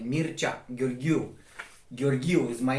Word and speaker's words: Mircea: So my YouTube channel, that's why it's pronounced like Mircea Gheorghiu.